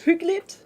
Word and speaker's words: hyggeligt: Is it hyggeligt?